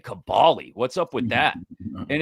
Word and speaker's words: Kaboly: It's Kaboly. It's Kaboly, says Rick. That's the way it's pronounced. But everybody Rick Barry. everybody loves to give you the Kaboly too.